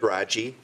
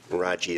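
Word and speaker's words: Radziej: Raji. Raji is spelled R-A-D-Z-I-E-J.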